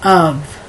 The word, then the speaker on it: of: But you know, there's still words in English that instead of pronouncing the F, you pronounce the V. Like, for example, of. A lot of people say of. They'll pronounce the F like it were a V.